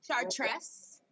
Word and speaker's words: Chartres: have said it right you just would chartress chartress t-s no this the hard t was right you just okay with the r you just roll the r a little bit in the throat oh